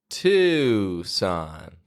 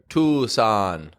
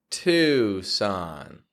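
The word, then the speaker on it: Tucson: Arizona to Son Louisiana if you're in any of those places and you've been pronouncing it no New Mexico or Tuan then there's a simple change that you can make to pronounce that location easier to to son so now that I've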